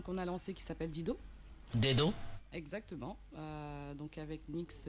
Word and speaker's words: D2EDO: Ça s'écrit D2EDO, mais c'est un détournement orthographique en fait de deux mots anglais, deed et do.